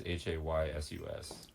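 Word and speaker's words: Jesús: Like Jesus is Haysus.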